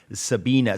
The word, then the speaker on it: Sabine: with his twin sister Sabine you remember they're they're lying Sabina yeah German the German pronunciation is Sabina so yeah he had